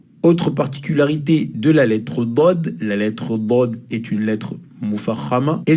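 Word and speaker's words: ضاد: Dod est une lettre grave, alors que la lettre Del est une lettre aiguë.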